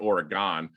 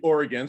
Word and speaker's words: Oregon: Midwest and we were told we had to pronounce it Oregon uh but it's actually Oregon so I like to say it the right